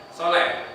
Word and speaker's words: saleh: Dulu Umi dan Abi memakai nama Bilal dengan harapan dan doa kelak kamu akan menjadi seorang yang saleh atau soleh, kita sebutnya soleh ya, bacanya ya, soleh, pemberani dan pemilik suara emas seperti Bilal sahabat Rasulullah Shallallahu Alaihi Wasallam.